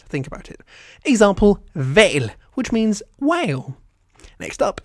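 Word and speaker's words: hval: If an H is followed by another consonant, it's silent. Otherwise, it will be pretty much impossible to pronounce. Think about it. Example, vale, which means whale.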